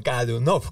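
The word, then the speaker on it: Годунов: En ruso, para dos oyentes, cuando existen varias oes dentro de una palabra, si no está ninguna de ellas acentuada, se pronuncia como a. Entonces es gadunov, o sea, el acento va en la última o y así indicamos para todas las palabras.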